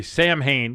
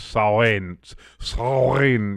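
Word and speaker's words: Samhain: It was Ireland and saw a lot of people say Sam Hane because that's how it's spelled in in Latin letters, but I believe it's sain sin.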